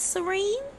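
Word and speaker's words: Cirene: I believe it is pronounced Serene.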